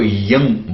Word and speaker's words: यं: य के ऊपर बिंदी लगी है तो उसको यंग बोला जाता है।